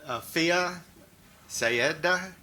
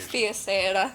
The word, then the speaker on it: Afia Sayeda: Fia Sayeda. Please help me with that pronunciation. Afia Sayeda. Sayeda, thank you.